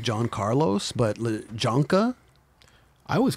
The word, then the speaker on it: Jhancarlos: pronounce his name I know him as like John Carlos but jonka I always call him jonka yeah it's Juan Carlos John Carlos jonka I'm like I just call